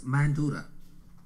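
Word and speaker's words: Mandara: It is pronounced in English as Mandura.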